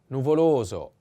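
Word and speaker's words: nuvoloso: the first is a nuvolozo the accent is on the second o and this is the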